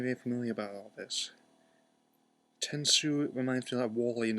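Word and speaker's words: Tensou: And we have the equivalent of Data's Tenso, but it's pronounced Tensu instead of Tenso.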